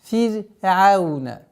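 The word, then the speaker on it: فرعون: Ра здесь в данном случае мягко произносится, так как впереди стоящая огласовка кясра. Фир'ауна.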